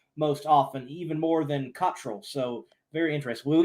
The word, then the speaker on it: Cottrell: I've been called it all, but the right way to say it is Cottrell. All right, there we go. Cottrell.